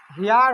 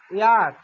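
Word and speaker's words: heir: দেখো এটা কিন্তু ইয়ার, কিন্তু হওয়া লাগছে কি প্রকৃতপক্ষে হেয়ার। এইজ কি সাইলেন্ট, এইজ আছে কি সাইলেন্ট, তার মানে এইজের ভূমিকা পালন এখানে হচ্ছে না। এখানে এইজ কি নীরব আছে, ইয়ার।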